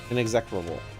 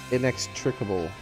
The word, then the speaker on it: inextricable: inextractable what an executable an executable it's not how you say that word that's how the word is spelled though inextricable is how you say